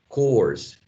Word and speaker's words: course: that may be complicated is the word course course like this course the phonetics course the grammar